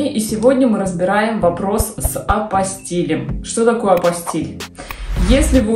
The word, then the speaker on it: апостиль: Прежде всего , хочу сразу сказать, что « апостиль» — французское слово, а во французском языке ударение всегда падает на последний слог. Следовательно, это не « апостол», и уж точно не «апостол», это «апостил».